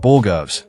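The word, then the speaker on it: borogoves: Judge Middleton is out here delivering the ponytail of justice, and after hearing him talk about Borgovs, which is actually the proper pronunciation, I found a couple of fun details worth sharing.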